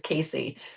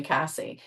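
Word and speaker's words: Casie: in real life, because my name in real life is Casey, but it's C A S I E, and everyone always calls me Cassie.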